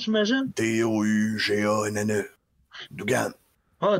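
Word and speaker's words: Douganne: Ça s'écrit comme ça se prononce, j'imagine? D-O-U-G-A-N-N-E.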